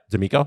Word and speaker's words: D'Amico: D'Amico? Is that how you say it? Yeah, D'Amico, yes.